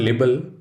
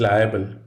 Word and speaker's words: liable: look out for it it is not label it is liable you are liable for